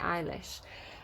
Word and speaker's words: Eilish: know his name right i always call it elish but i think she pronounces it eilish lost cause um there